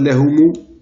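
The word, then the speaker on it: لَهُمُ: Mais quand on a alif ou lam derrière, on va mettre lahumu al-mustaqbalu. Donc lahumu al-mustaqbalu, pour tout ça, pour la prononciation, pour que ça soit plus fluide.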